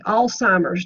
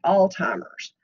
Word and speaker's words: Alzheimer's: Okay, Alzheimer's disease. Note the lack of a T. There's no need whatsoever in arguing with the general public. They all call it Alzheimer's, but that's not the correct pronunciation.